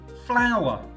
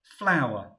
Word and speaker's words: flour: a white powder called flour now it's not the beautiful flower that we see in your garden it's spelled in a very different way but it sounds the same flower we've seen grind before